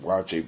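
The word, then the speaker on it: waakye: I want to look at watching each they pronounce it watch it but it's spelled waa Kye is uh it's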